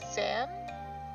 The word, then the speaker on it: Zan: great teacher let's see your name sounds like zan rhymes with w-tan oh zan awesome i